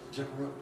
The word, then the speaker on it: general: EPD is wrong because EPD implies that it's always 4 syllables. Untrue. It isn't. I would guess that 90% of the time it's 3 syllables.